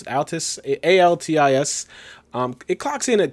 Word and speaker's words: Altis: I think that's how you pronounce it, Altis, A-L-T-I-S.